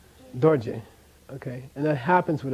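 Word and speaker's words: རྡོ་རྗེ: Here's a case where one of them is not. Very rare. But I like this word, so I think you got to know this one. This is not do-je. This is dorje.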